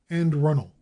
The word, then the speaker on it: Anne Arundel: the habit identifies them Anne Arundel the name of a county in Maryland is usually pronounced and runnel by its people Arkansas as everyone knows